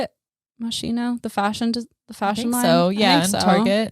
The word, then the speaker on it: Moschino: yeah he's in the macy's day parade he's very important jeremy scott's fall 2014 collection for moschino is how you say it moschino the fashion the fashion so yeah target yeah